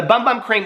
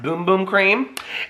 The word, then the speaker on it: Bum Bum Cream: they weren't these size but the bum the bum bum cream which somebody just told me is pronounced boom boom cream and then the coco cabana cream okay but